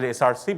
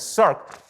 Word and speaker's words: Src: circ the src is the src it's not pronounced at src but it's pronounced as serc which comes from the sarcoma basically they found